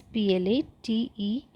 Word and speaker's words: plateaux: Here, the spelling of plateau is Plateaux, where X is silent, so it is known as plateau.